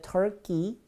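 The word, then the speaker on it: Turkey: 터키. 키가 아니라 끼입니다.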